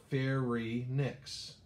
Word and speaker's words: pharynx: So it looks like pharynx. It's actually pronounced pharynx, like don't play dirty, play fair at the rinks, fair rinks, right?